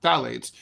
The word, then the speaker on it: phthalates: These chemicals, which are known as phthalates, they're they're spelled they're they're phalates. They're pronounced I mean, the spelling is crazy. Ph. Anyway, phalates were responsible for more than 350,000 deaths worldwide in the year 2018.